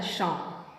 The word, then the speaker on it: Psalm: सर्वप्रथम सब लिखा है शाम, पी साइलेंट, द शाम ऑफ लाइफ, जीवन का शाम होता है भजन, जीवन का भजन या कीर्तन।